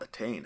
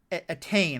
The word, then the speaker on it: Etain: And that character, that's Attain, I believe is how you pronounce her name. Is that correct? That's how I pronounce it. I've only read it, so. Yeah. Etain.